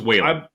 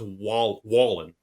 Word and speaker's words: Wallen: I thought it was Whalen. According to his Twitter account, it's pronounced Wallen.